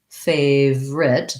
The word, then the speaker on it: favorite: most of the time we tend to say favorite those two syllables so it is okay to say favorite favorite and you hear that in there we have a little schwa favorite that would sound like fey we have the diphthong a so first syllable stress and then with a